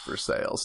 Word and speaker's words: Versailles: shameful one, Versailles. Oh yeah. And how it's actually pronounced for sales.